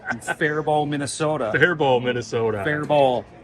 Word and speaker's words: Faribault: Faribault, T is silent.